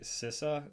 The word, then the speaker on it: CISA: Typically, they like to rank these, and when I say they, CISA, C-I-S-A, and I'm pretty sure that's how you pronounce their organization.